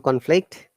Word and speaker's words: conflict: are noun and verb when it is known we must all stress on the first syllable or first part of the word conflict conflict clear and when it's verb we stress on the second part in that case conflict